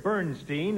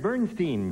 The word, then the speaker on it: Bernstein: Now, you say Bernstein. That's me. You pronounce it differently from the conductor who prefers Bernstein.